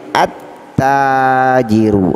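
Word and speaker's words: التاجر: Cara membacanya langsung ke huruf pertama daripada tajirun, ya, dengan cara mentasdidkan. Jadi yang awalnya tajirun ada alif lam ta'rif, maka menjadi at-tajiru, artinya pedagang. Nomor 2 huruf sa, ya, harfus sa, ya.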